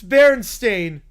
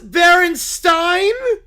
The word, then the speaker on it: Berenstain: It's Berenstain. Berenstain? Not Berenstein? That's unholy. Ain is not GOOD.